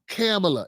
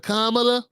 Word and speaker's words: Kamala: Even when people innocently innocently say Camela instead of Kamala, they act like they're going to have a nervous breakdown.